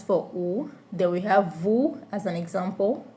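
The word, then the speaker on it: vous: Then we have vu as an example. The s is silent which I want to explain.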